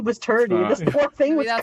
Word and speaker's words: Turdy: Also, I want to specify Turdy is spelled with a D instead of a second T, so it's Turdy. Yeah, and a Y, not IE.